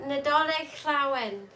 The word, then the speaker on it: Nadolig Llawen: Can you try and pronounce that word? I've struggled with that. Nadolig Llawen.